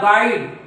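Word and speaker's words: guide: गोईल न म्हणतात गाई याला गुवाईट न म्हणतात गाईड याला गुएटर न म्हणतात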